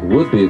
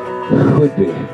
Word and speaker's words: Whidbey: Some people pronounce it Whidbey like a piece of wood, but actually, the locals will get very upset because it's actually Whidbey.